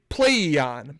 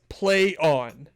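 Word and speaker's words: Plaion: a i o n which i would say play e on but they say no it's play on is how it's pronounced sure yeah whatever um that's just cor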